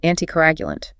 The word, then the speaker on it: anticoagulant: A patient at risk for blood clots will be put on an anticoagulant. Pronounced an ti co a g u lant.